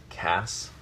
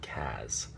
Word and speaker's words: Cass: think it's critical that the name still be pronounced Cass and not Kaz I i want to